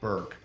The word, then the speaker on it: Burke: me on the web my last name is spelled a little bit funny b as in bravo o u r ke Burke uh we say it rhymes with jerk uh not dork so you go and